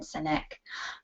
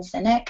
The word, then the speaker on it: Sinek: I would highly suggest that you look up Simon Sinek. I think that's how you say his name, S-I-N-E-K. I've never heard his name pronounced out loud, so who knows.